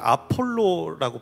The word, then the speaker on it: 아볼로: 그래서 이렇게 부부가 있었는데, 그리고 또 중요한 인물인 아볼로는 사실 아폴로라고 발음을 합니다.